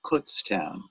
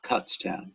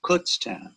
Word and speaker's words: Kutztown: know the town where keith is from is pronounced kutztown not kutztown it's kutztown i'm from that area i grew up there um and went to school there actually so it's pronounced kutztown oh did i say it incorrectly okay thank